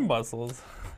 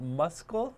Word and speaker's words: muscle: Even though there is a C, you don't make a C sound. Not muscle, but muscle. C가 들어가 있지만 무음이기 때문에 muscle이라는 표 이렇게 발음하지 않고요.